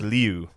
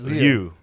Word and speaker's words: Liu: It's like leu. That's why. Yeah, it's leu.